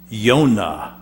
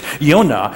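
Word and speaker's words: יונה: you will after today in Hebrew my name is Yona do you get it now Yona how do you say it well that's pretty close you need to work on your Hebrew a little bit but it's Yona Yona in Hebrew means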